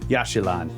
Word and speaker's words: Yaxchilan: So we're continuing on where we left off here, and you were wondering about this place I can't remember how to pronounce. Yaxchilan.